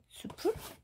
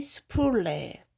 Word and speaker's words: 수플레: 바디 수풀? 이걸 뭐라고 읽어야 되는지 한번 볼까요? 바디 수플레 프레그런스 오리지널입니다.